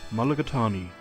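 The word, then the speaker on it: mulligatawny: How do you pronounce it? Mulligatani.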